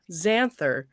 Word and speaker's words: Xanther: The other J name, Xanther. Yeah, the J is silent. Janther. It's a silent J. It's a silent J at the beginning.